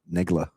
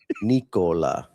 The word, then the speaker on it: Nikola: Negla. That's not what I said. It's a K. Nikola. Nigla.